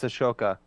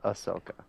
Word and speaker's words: Ahsoka: gonna be a huge part no Ahsoka it's Ashoka no it's not I will punch you so